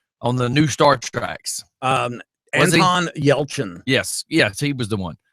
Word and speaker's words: Anton Yelchin: Anton Yelchin.